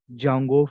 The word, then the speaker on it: Django: the important framework is Jango framework what is the framework name Jango framework so here D is silent guys d a silent so